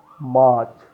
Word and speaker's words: March: January, January, not January, January, February, February, March, R is silent, March, May, not May, May, August, August, August, August, August, October, October, October, not October, October, October.